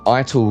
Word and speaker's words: Ital: Well, Ital comes from vital, actually. Awesome. I'm right. Okay. I thought so. Sure. Actually, Sean asked me before this all began. He says, "Does Ital rhyme with vital?"